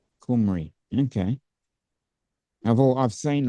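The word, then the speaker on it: Cymru: Welsh for Wales is Cy rmu which is pronounced kumry kumry okay I've all I've seen a lot of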